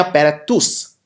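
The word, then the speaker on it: paratus: Next है इन Omnia पैरातूस। इसमें जो ये TUS है, इसको टस नहीं टूस हम प्रोनाउंस करते हैं।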